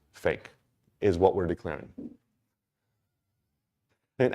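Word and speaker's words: PHEIC: world health organization declared it's called a p-h-e-i-c and in quotes they say pronounced fake at this point it's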